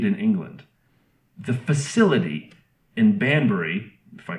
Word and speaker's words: Banbury: The facility in Banbury, if I pronounced that right.